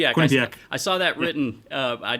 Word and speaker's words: Quinnipiac: Went to college here in in state also at Quinnipiac. And, uh, yeah, I've always lived here. Yeah. How do you pronounce that the college? Uh, Quinnip Quinnipak. Quinnipiac.